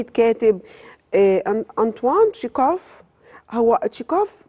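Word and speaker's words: Чехов: كاتب انطوان تكاف هو تكاف احنا بننطق بالل المصر تكاف بس هو بالروسي او في بلاد اخرى بينطقوا تشيخوف بالخا زي مثلا اجس كريستي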